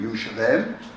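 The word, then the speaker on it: ירושלים: The oldest known and most common name of the city is Jerusalem, or as we would pronounce it in Hebrew, Yerushalem.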